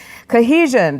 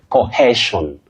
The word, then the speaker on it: cohesion: Now, the problem is many people innocently find themselves saying cohesion. Cohesion, no, it's cohesion. So that hair is not there. It's in spelling. But you say he exactly the way you pronounced it.